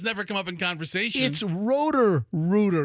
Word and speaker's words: Rooter: It's Rooter. It's not row Rooter.